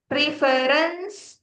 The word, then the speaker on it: reference: No, Hanya hanya dua syllable. Reference itu tiga. Reference tiga. Ini dua.